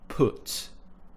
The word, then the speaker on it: put: modern form of pronunciation the way that most people in the south would pronounce this sound it's more of an uh sound put you'll see that